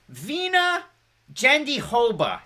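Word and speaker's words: Virna Jandiroba: keep it on our next fight mackenzie dern vena gendihoba to pronounce it properly marcus edwards saying love you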